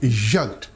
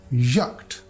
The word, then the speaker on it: Jagd: This combination also appears at the end of German word and pronounced like Kate, Kate, as in Jagd, Jagd. We write it Jagd, but we pronounce as Jagd, Jagd.